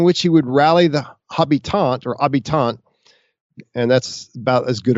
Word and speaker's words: habitants: The habitants, it's spelled like, it looks in English like habitants, but they're inhabitants, basically.